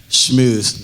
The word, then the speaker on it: schmooze: also be able to schmooze not smoosh yes everybody schmooze i